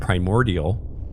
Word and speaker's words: Primordia: familiar with the word primordial and you see primordia you're gonna be like oh it's like primordial without the L and you instantly know how to say it right easy peasy it's